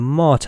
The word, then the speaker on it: MATE: so last but not least we have the mate i said it right for you guys as